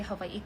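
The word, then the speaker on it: Hawaiʻi: You being annoyed at people wanting to say havi correctly just reflects the expectation that our language and culture should be simplified, mispronounced, or erased for your white comfort.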